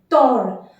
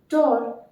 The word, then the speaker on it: tort: So the exact opposite is avoir tort. Notice we are not like pronouncing this T, as T is a final consonant. So avoir tort, to be wrong.